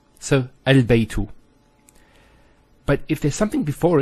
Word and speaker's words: البيت: Now knowing that this is a hamzatul wasl, we know that with hamzatul wasl, if it starts off a sentence, it's pronounced. So al-baytu.